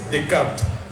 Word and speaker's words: Descartes: piden que revises a un señor que se llama René Descartes pero que lo pronuncies decart y que de preferencia